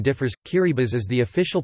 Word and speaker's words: Kiribati: of the tongue guru or Gilbert's chain the pronunciation differs key Reba's as the official pronunciation as T in the